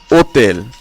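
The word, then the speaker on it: hôtel: তারপর রয়েছে ওতেল, এখানেও আশ উচ্চারণ হয়নি।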